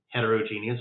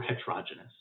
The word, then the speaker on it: heterogeneous: different types of mixtures they can either be homogeneous or homogeneous or they can be heterogeneous or heterogeneous either pronunciation is valid uh in a homogeneous